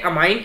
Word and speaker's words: ammine: NH3 को बोलते हैं अमाइन। स्पेलिंग बहुत ध्यान से देख लीजिएगा, स्पेलिंग है AMMINE, ठीक है।